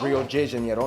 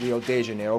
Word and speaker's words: Rio de Janeiro: from the old capital, Rio de Janeiro. That's right, it's pronounced Rio de Janeiro, not Rio de Janeiro. Get it right, we're not in Mexico, this is Portuguese, not Spanish.